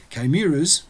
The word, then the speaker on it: chimeras: Apparemment, ça se prononce chimeras, plus ou moins, donc pas du tout comme je le prononçais, et accentué sur la deuxième, peu importe.